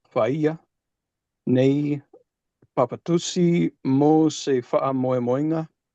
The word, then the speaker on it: fa'a: Like fa is always pronounced with the glottal stop.